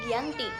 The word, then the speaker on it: Giyanti: Dalam pelafalan Belanda, ia tersebut sebagai Giyanti dan secara tertulis ia terbaca sebagai Giyanti.